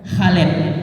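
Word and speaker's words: خالد: Contohnya di sini ada tulisan lima alet ini dibacanya khalid.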